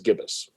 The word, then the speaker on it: gibbous: pronounce the word uh is it jibus or gibbus uh i i've heard it is gibbous yeah i always thought it was gibbous yeah right yeah yes